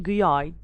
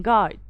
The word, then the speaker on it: guide: that we can get is going to be guide i'm not saying guys i'm saying guide i'm not saying to young i'm saying tongue i'm not saying guard i'm saying guard so whenever i have g and u the u gets silent most of the time so as you can